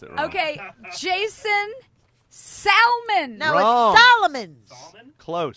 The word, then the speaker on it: Salmon: pronounce it okay Jason Salman elements clothes Solman he got so mad like soul man likes all like better call Saul there should be a